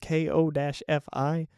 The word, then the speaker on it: Ko-fi: I started up a Ko-fi, or a coffee, as people always say, but it's spelled Ko-Fi. So it just feels like it should be, oh, you know what? It should be Ko-fi, like lo-fi, but Ko-fi.